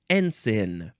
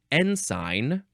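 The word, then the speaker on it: ensign: sanguin probably not though next is enen or n sign you can say that uh or let's see oh I guess n sign is for numbers 1 2 and 3 a otherwise you're saying enen e n SI i g n noun from the 15th century number one so you would say n sign is that right n sign yeah number one a flag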